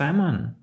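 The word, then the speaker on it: salmon: цих слів Дуже схоже Справа в тому що в такому випадку ми не вимовляємо букву L Тобто amond amont це мгдальний горіх мдаль amont А ось samon - це лосось I love semon буква lл не вимовляється А ось пам це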